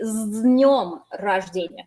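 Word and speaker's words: с днём рождения: And notice you don't pronounce it as с днем рождения. This turns into a z because the d is a voiced consonant. So you say с днем рождения.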